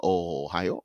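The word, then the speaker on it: おはよう: Ohio, we know, is in Japan, right? Ohio, right? People may say konnichiwa, but it's konnichiwa. Ohio, that's how they say it.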